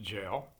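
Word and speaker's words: gaol: a o l goal it's pronounced jail and it's often misspelled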